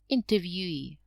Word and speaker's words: interviewee: you can see that we have the stress on the last syllable refugee examinee interviewee refugee is a person